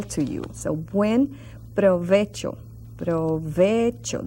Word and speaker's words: provecho: you so when provecho provecho that's in your word little tricky because of that CH sound provecho now since we